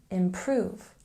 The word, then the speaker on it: improve: syllable order order and a stress on the second syllable here in improve improve and we're reaching the